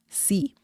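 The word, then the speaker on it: sí: accent mark means yes the pronunciation of C without the accent mark and C with the accent mark is the same okay so don't worry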